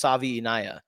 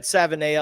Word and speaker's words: Savaiinaea: kudos to you for the the last name pronunciation. Cor the correct way to say is Jonas Savvi. Um boy that I' Yeah, exactly. But I've said Savana.